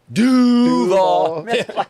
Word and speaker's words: Duval: Duvall.